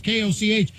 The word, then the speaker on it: Koch: guy named Ed Koch, spelled the same way as the Koch brothers, Koch, but he pronounced it Koch.